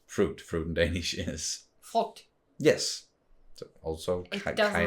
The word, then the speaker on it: frugt: When you say it out loud, like frugt, because you have the U that's usually pronounced oo. Oh, yes. Then it's like an O sound instead. So yes. Frugt. And in a lot of Danish words, we don't pronounce the G. Like we have a lot of silent Gs, but here, for some reason, it's not. It's not silent.